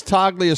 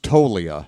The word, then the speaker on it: Toglia: Swing and a miss, Toglia strikes out. 1 away. Apparently it's pronounced Tolia. I screwed up his name.